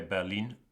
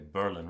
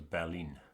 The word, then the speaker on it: Berlin: Yeah, in German we say Berlin. In English I think they say Berlin, right? It's very tricky with all these languages. My head is all messed up. But yeah, the German pronunciation is Berlin.